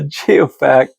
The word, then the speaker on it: geoact: geo meaning again geology and the fact for me it rhymes with artifact. So a geoact for me is something that nature sculpted that looks very similar to what man might have.